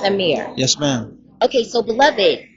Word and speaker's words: AMXXR: All right, my name AMXXR, aka Beloved. But it's pronounced Amir.